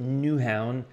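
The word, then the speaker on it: Nyhavn: photo this is nyhaven i think you pronounce it newhound or something like that if you're danish but this is in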